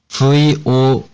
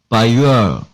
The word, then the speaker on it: voyeur: V-O-Y-E-U-R. 언뜻 봐서는 우리가 흔히 아는 영어가 아닌 것 같습니다. 자, 발음을 보게 되면, 듣게 되면 미국 발음입니다. by your. 영국 발음은 보여. 직접 한번 들어보시죠. 미국 발음입니다. Voyeur.